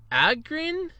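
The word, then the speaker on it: Ahgren: i do apologize uh ludwig or ludwig uh agrin a-h-g-r-e-n i apologize if i mispronounced it uh i got your first name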